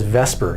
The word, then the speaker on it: VSEPR: whatever that was uh we just pronounce it as Vesper even though it doesn't really look like it should be pronounced that that's what we